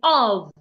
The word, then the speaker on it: of: can have it in of why you have the word o f the F there sounds like a v o but when you